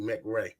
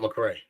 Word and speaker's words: Mcrae: name is like that my last name is actually mcra it's not McCrae MC but why you